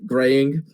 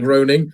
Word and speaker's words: Groening: game was shown to Matt Graying, or Matt, I can't remember how to say his second name. Matt Groening.